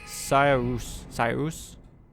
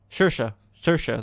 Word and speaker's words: Saoirse: Possessed by Cyrus? No. Saoirse, that's how he pronounces it.